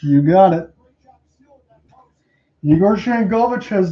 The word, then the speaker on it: Yegor Sharangovich: It looks like, let me see if I'm pronouncing this, Yegor Sharangovich. You got it. Yegor Sharangovich has not scored a lot of goals when he's been picked up from the Devils.